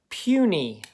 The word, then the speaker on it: puny: The vowel's at the end, so this is an open syllable, so that's long. Knee, also an open syllable. This is a two-syllable word, so that Y makes that long E sound.